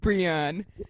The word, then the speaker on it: Brillion: It's Brillon if you can't roll your L's. Like, just... Brillon. Yeah. My husband actually was saying it like that for the longest time until his mom corrected him and was like, you're saying your wife's name wrong. His mom, Gina's husband, is from the Midwest too, so his mom knew it more than he did. She's like, there's double L's in there.